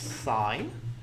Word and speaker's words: sin: have this one that says Sim this is pronounced sine the shorthand this little circle with a line